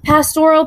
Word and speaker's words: pastoral: uh they're fun right pastoral poetry don't think of pastor like the guy at your church on sundays think of pastor like pasture even though it's spelled differently um pastoral means nature okay